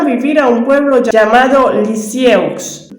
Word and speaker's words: Lisieux: a un pueblo llamado Lisieux, se pronuncia Lisier.